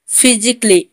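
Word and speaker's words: physically: लॉजिकली में भी double L वाई के आगे ए है तो ए साइलेंट होगा। फिजिकली, फिजिकली में भी डबल एल वाई के आगे ए है तो ए यहाँ पर भी साइलेंट होगा।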